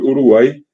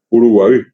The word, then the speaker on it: Uruguay: esta palabra eh originalmente Uruguay que decimos hoy Uruguay es el mismo caso que Paraguay tendría la la pronunciación correcta es uruguaí y el urugua es